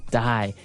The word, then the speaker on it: dye: Okay, dye. So, it's pronounced exactly the same way as, you know, to die, to not live anymore.